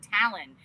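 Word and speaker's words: Thalon: He's like his name is Talon Thor and like Talon t h a l o n, but he pronounces it Talon.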